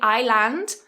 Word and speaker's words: island: of the world but don't pronounce the S it is 100 silent level three what do